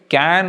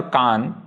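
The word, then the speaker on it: Cannes: सो इट इज कैन और कान depending on which region of France you come from, but कान is more actual like standard French, and then there are Americans who started pronouncing it कैन instead of can.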